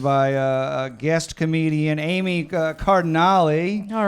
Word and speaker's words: Cardinale: a guest comedian Amy Cardinale all right they say it right because you did it really well I was nervous I was like is it car or care you know nobody cares